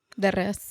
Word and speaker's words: de res: De res.